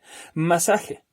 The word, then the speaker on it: masaje: Masaje. Esa es una palabra grave. Es una palabra que tiene 3 sílabas, también es trisílaba. Y la sílaba tónica está en el penúltimo lugar. En este caso es sa.